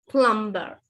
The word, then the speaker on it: plumber: B is also not pronounced in words like debt. Depth. Depth කියන්න. Depth. Plumber.